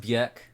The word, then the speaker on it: Björk: It's pronounced Björk.